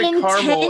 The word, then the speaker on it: caramel: an the second a in Caramel is silent but in Texas we